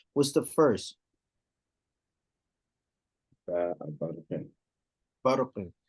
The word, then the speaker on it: برق: So ba has to still be pronounced with tarqiq in words like barqin when they come side by side with, again, mufakhama letters. Letters that's pronounced like ra, okay? Barqin, barq, ba, barq, okay? Not barq, ba. No, barq.